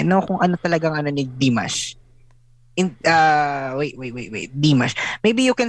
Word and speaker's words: Dimash: I know kung ano talagang ni Dimash. Wait. Dimash. Maybe you can search him. Dimash. Spell as it's pronounced.